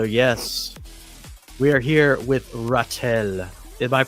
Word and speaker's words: Ratel: So, yes, we are here with Ratel. Am I pronouncing that correctly? You are, my friend. No, you are. Oh, okay. Right on the money. Ratel.